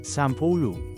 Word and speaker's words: sampulo: Change A to AH and U to OH and O to UH, then pronounce it as Sampolo.